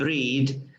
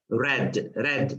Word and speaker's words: read: So we write it as read. The verb read, it's the same in the spelling, in written, in the past perfect, but the pronunciation is different. So we don't say I haven't read, I haven't read like the color red.